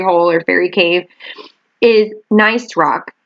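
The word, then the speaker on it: gneiss: or fairy cave is nice rock it's spelled g-n-e-i-s-s but it's nice rock and nice rock is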